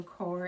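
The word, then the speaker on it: coir: Uh so what we've got is uh a brick of cocoa core and it's spelled co i r.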